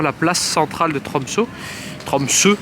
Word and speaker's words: Tromsø: Tromsø, parce que le O barré se prononce E.